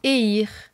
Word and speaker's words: Eir: exemple vous avez la déesse etir qu'il faut prononcer eir frea si vous aviez des doutes sur la